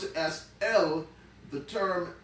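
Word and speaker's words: אל: the aleph and the llama put together we pronounce it as l the term l literally means the strong mighty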